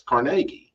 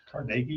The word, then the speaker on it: Carnegie: The Dungeness ruins are the remains of a mansion built by Thomas Carnegie, the brother and partner of steel tycoon Andrew Carnegie. Georgian revival stuff. Carnegie. I believe it was Carnegie.